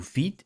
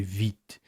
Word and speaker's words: Vite: very close together, but in French, the V is way harder, almost like a W. So I have to say Vite.